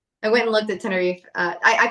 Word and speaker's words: Tenerife: But it's Tenerife.